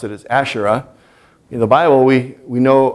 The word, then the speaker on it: Asherah: Actually, El had a wife named Asherah, and we see that term in the Bible, usually pronounce it as Asherah.